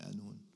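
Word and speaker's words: قانون: I don't know about you, but I hear the Oud and the Qanun. Halab, they say Anun. They don't pronounce the Qaf. They say Anun.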